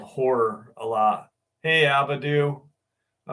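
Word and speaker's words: HO99O9: So I like this band called Horror.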